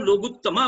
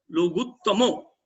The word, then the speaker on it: लोगुत्तमो: ने बताया हुआ धर्म, तो उसको एक वचन का उच्चारण करना चाहिए। तो वहां हम कहते हैं केवली पणंतो धम्मो लोगुत्तमो, लोगुत्तमा नहीं बोलना है, केवली पणंतो धम्मो लोगुत्तमो।